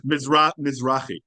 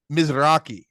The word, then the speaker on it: Mizrahi: Mizrahi. Mizrahi.